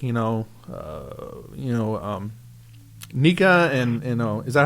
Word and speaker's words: NECA: Yeah, you factor in all these other collector toy companies like Nika and is that how you pronounce it? NECA. Yeah, some people say Nika. I've heard other people say NECA.